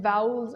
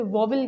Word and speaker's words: vowel: लिखा है, सबसे पहले इसे अक्सर लोग गलत प्रोनाउंस करते हैं, इसे वोवल कहते हैं, लेकिन द करेक्ट प्रोनाउंसिएशन जो इसकी सही प्रोनाउंसिएशन है वो है वाउल।